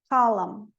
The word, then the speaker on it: column: O N final, autumn, termina em M, autumn, column.